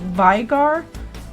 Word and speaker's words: Veigar: names really strangely like some people uh pronounce Veigar like vigar which sounds cool too and I don't deny